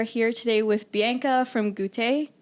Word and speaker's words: Goûter: We are here today with Bianca from Goûter. Goûter?